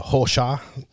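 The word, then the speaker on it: Rocha: to uh Lucas uh hosha even though spell Roca in Spanish it's horshaw because he's Brazilian you know they have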